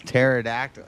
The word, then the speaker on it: pterodactyl: I know the answer because the P is silent. Oh, facts, facts. Cuz it's pterodactyl.